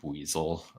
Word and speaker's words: Buizel: too long ago that it's pronounced buzel notel he didn't know